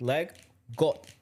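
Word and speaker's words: leg godt: Anyways, the game from it's a Danish word, which means leg got, G-O-D-T, but you could pronounce it leg go, which means, I know what it means in Danish.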